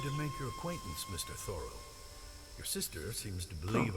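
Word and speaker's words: Thoreau: so interested in the finer fruits of thought thorough okay that's how you pronounce it henry there you are good afternoon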